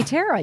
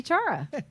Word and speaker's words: Tara: I apologize for that you never call me Tara you always call me Chara no hard feelings oh